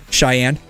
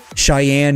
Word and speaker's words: Cheyenne: Pronounce the word Cheyenne. Cheyenne. It It looks weird, right? Like it should be like sh um maybe a i y a n e, not like that.